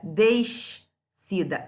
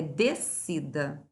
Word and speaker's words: descida: Porque a gente não pronuncia descida, é descida, tá?